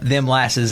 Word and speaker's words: Them Lasses: It's THEMLASSES. not dim glasses, not sweet molasses. Right. Them lasses.